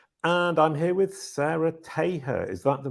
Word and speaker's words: Taher: I'm Jason Barnard, and I'm here with Sara Taher. Is that the right way to say it? That works. Oh, it's not correct. It's more like Taher. Taher.